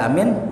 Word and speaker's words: Aamiin: isim fi'il ya Nah ada dua bacaan kata beliau cara bacanya Yang pertama amin Panjang anya ya amin yang kedua bacanya nih Amin gitu ya enggak ada yang ketiga Amin enggak ada gitu dibaca pendek enggak ya enggak Amin enggak tapi boleh enggak ya boleh-boleh aja ya sah-sah saja cuma kalau